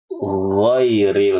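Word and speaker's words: غير: pada kata Giri ghairi mengubah huruf Gin menjadi G Nah ini banyak nih giril maddu giril yang benar giril ibu-ibu giril atau mengubahnya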